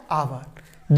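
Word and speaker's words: hour: लिखा है आवर आवर जबकि स्पेलिंग में पहला अक्षर क्या है ए लेकिन एच साइलेंट है लिखा एच है तो सही तरीके से तो इसकी शुरुआत एच से होनी चाहिए थी लेकिन इसको पढ़ते हैं आ आवर क्या पढ़ते हैं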